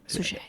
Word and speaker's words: Suchet: I pronounce it French. Suchet. Unless that's not French at all, in which case I don't pronounce it French. I just drop off the T, I think.